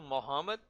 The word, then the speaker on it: Mohamed: profeta maomé é o mohamed como é a pronúncia a que eles falam mohamed começou a pregar uma nova religião o islamismo